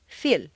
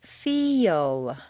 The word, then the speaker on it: feel: a word like feel if you say just the letters that you see it will sound more like Phil or Phil you need to say feel is that really a y yes these mysterious semivowels